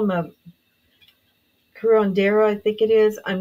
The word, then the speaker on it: curandera: people, and she actually, they call him a curandera, I think it is. I'm not very good at Yeah, pronunciations, but curandeira.